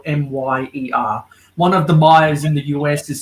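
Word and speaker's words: Meijer: One of the Mayas in the US is spelled M-I-E-R, and I think the other Maya is a little bit of a different spelling.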